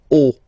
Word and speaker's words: haut: Okay, final T not pronounced, and then this H as previously, you don't pronounce it, so this is haut.